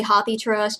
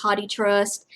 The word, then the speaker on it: HathiTrust: is hottie trust uh it's pronounced haughty some people say hothy trust you'll run into people